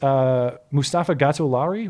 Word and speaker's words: Mustafa Gatollari: Anyway, that is Mustafa Gatollari, right? I'm pronouncing that right?